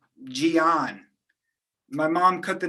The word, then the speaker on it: Gian: an identity crisis is because of my name jion my mom cut the name short from giancarlo